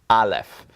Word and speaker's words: Aleph: And that's what it looks like when you have an Aleph.